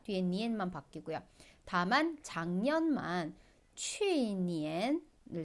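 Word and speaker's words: 去年: 작년은 취니엔이라고 해요. 자, 취니엔 우리이 취자 어디서 봤어요?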